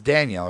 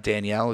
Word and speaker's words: Daniel: It's Daniel, right? It's not Danielle. It's Daniel. Is it male or female?